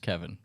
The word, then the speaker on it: Keven: E-N, 2 E's. E-N. Yeah. And it's pronounced Kevin, by the way. Some people are like, is it Keven? Is it Kevin? No. Just Kevin. All right, Keven.